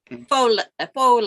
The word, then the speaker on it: faux: Oh, faux leather. Faux leather. Okay. Yeah, you're pronounced as French. Faux leather. Okay. That's Terry, French for fake.